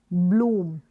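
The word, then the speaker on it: bloom: ब्ल, ये है ब्ल ऊम, ब्लूम, यानी इसको बड़े ऊ के रूप में, डबल ओ है, बड़े ऊ के रूप में आप प्रोनाउंस करेंगे, लॉन्ग इसका प्रोनाउंसिएशन होगा। बी एल को ब्ल, ब्लूम,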